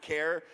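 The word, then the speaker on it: Kjar: how to spell his last name because it's pronounced care but you follow him on instagram at been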